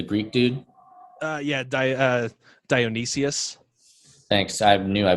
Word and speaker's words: Dionysius: ariel pagat the greek dude uh yeah uh dionysius thanks i knew i butchered that pronunciation it's also really weird it's